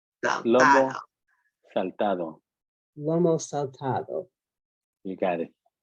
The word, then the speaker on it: Lomo Saltado: And especially to Otto Llamas for teaching us how to make, I'm going to mispronounce it again. Lomo Saltado. Lomo Saltado.